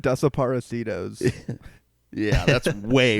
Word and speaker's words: Desaparecidos: I've never realized how badly I've butchered that. I'm glad to have heard that properly said. Desaparecidos. That's pretty good. It's a little bit more Italian, but that sounds good.